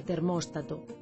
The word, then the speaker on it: termóstato: Isto explica que da mesma maneira que dicimos apóstata, en galego correcto digamos aeróstato, reóstato e termóstato.